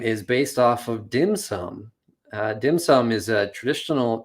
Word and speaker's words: dim sum: of various sweets and in hong kong it's pronounced dim sum and then when you translate it into japanese